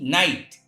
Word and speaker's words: night: If at the last of any word GH or GHT is found, in that condition GH is silent.